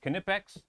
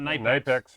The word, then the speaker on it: Knipex: on these uh canipex pliers that's right it's pronounced cannipex that's right not not knight x or anything else it's kind of fx uh